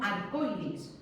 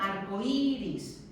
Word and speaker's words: arcoíris: Pero cuando yo junto y tengo arcoíris, no tengo arcoiris, tengo arcoíris. La fuerza de voz está en la vocal débil, le tengo que poner la tilde ahí.